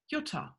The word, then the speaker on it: Jutta: Now you can understand why my name is pronounced Jutta.